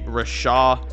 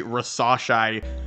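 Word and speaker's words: Risacher: have them taking Zachary Rasha hold on scratch that I definitely mispronounced his name Zachary rasas I should say again there's a lot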